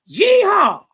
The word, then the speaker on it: Yeehaw: You could say yeehaw, like a cowboy.